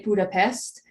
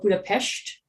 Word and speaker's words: Budapest: from english for example many people they say budapest but i've learned that it's actually called budapest which is uh you know it's this s that always confuses me